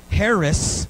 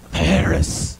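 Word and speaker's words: χάρις: You got to say it with like a loogie in your throat. I hate to be gross. I'm sorry, but charis, right? Right? Or we say in the South, Harry's, right? Right? Not Clarice, like Signs of the Lands, but Harris, right?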